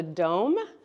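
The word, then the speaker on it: Dohm: And so I've popped up here this little machine called a Dome. I don't go anywhere without it. It is an amazing machine. It's spelled D-O-H-M.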